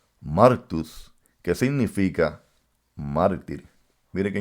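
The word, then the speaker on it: μάρτυς: Porque cuando buscamos la palabra testigo en el griego, la palabra se pronuncia martus, que significa mártir.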